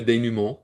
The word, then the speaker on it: dénouement: So we're getting pretty close to the denouement. The denouement. I think we can say that we are officially at the denouement. We have to say it like the French because this is Canadian. Le dénouement. Vous remercie, monsieur.